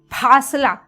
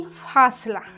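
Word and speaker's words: फ़ासला: लेकिन फ जो अरबी फारसी के शब्द होते हैं उनके साथ फासला, मैं नहीं कहूँगी फासला, ये क्या हो जाएगा, अजीब सा सुनाई देता है ना, लेकिन फासला ऐसे हम इसका उच्चारण करेंगे।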